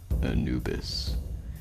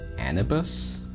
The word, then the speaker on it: Anubis: The killer goes by the name Anubis, which for the longest time I always pronounced as Anibus. Like, I transposed the I and the U.